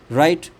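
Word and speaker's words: write: में W silent है राइट राइट में डब्ल्यू साइलेंट है रिटन में डब्ल्यू साइलेंट है रॉन्ग में डब्ल्यू क्या है आपका साइलेंट है टॉट जी एच यह साइलेंट है।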